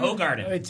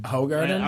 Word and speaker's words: Hoegaarden: It's actually Hoegaarden. Hoegaarden? Okay. How's it spelled? It's spelled one, but if you look at the label, it's spelled the phonetics on the label are WHO. But I'm thinking in Dutch, yeah, so never mind.